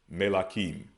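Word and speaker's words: מלכים: So next we have Kings, which is Malachiam, but they would pronounce it as Melachim, Kings.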